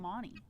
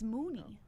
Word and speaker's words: Mooney: is it JB Mooney is that how you pronounce it JB Mooney I always call him Monty oh it's Mooney man but no but if